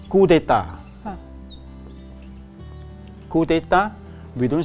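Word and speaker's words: coup d'état: Yes, this is called coup d'etat. Coup d'etat, we don't say coup d'etat, we say coup d'etat. So you can see that the P is not pronounced.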